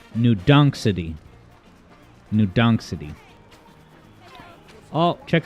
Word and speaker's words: New Donk City: Let's explore Badonkadonk City. Sorry, I believe it's pronounced New Donk City.